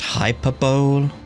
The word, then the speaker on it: hyperbole: He shares your sentiments, just not your, penchant for hyperbole. Assuming that's what you were going for? It's pronounced hyperbole.